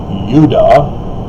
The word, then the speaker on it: Judah: isn't it interesting that judah is more correctly pronounced if you get rid of the european corruption of turning the semitic yod into the j sound so it would be udah oh that's almost like utah i wonder if there's